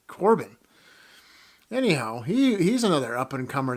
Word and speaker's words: Corbin: Is it Corbin or Carbon? Corbin.